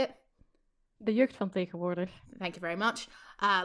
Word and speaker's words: De Jeugd van Tegenwoordig: can't pronounce their name, you're gonna have to pronounce it. What's the hip hop band called? Can you say it? De Jeugd van Tegenwoordig.